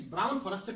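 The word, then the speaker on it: Brown-Forsythe: The pronunciation is Brown-Forster test and Welsh test.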